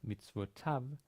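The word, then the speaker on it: מצוותיו: Maybe you remember that the yud in the third singular suffix is silent, mitzvotav, and the yud still indicates,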